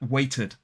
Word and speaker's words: waited: But look at the phonemic transcription of waited. W-a in the first stressed syllable, and the second syllable is tid, tid. That's because the I is an open vowel sound, so the t moves over.